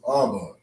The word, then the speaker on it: Abba: So we put an ah and a ba together, right? We form the first Hebrew word, which is Abba.